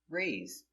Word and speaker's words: raise: and see the difference raise to go up in present raise in the past raised the s is between two vowels so we pronounce it with a z sound like zebra rays in the past raised